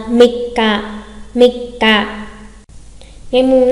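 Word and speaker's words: 三日: À, mikka, mikka.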